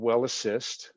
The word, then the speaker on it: WellAssist: So your flagship product is called WellAssist, or am I right? Am I pronouncing that correctly?